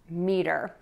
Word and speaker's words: meter: Our question today is, how do I pronounce the word meter? And a meter is a unit of length. To pronounce this word, we are going to think of two beats, me and der.